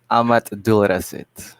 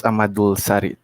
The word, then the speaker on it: Ahmad Abdul Rasid: Ahmad Abdul Rasid. Everyone pronounces like my teacher says Ahmadul Sarit.